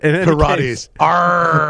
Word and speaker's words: Peirates: Is that like Pilates, but Peirates attack tool for Kubernetes, and the Bastille CTF cluster.